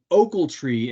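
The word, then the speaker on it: Ochiltree: The Deaf Smith, Potter, and Oakletree, as it is pronounced. I learned that this past week.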